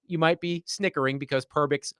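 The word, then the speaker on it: Perbix: And it rhymes Pervix loosely rhymes with a part of the female anatomy.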